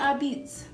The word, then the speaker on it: apizza: So I went to APIZZA. I thought at first it was like a pizza, but it's APIZZA. It has like that B. The P is a B.